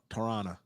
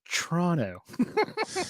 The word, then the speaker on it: Toronto: Oh, Toronto. No, Toronto.